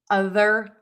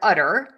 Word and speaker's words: other: in as I make that th sound the other. other. Other the mistake I hear is the word udder.